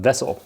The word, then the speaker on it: VSSL: the fishing tackle tin from Vessel. They spell it VSSL.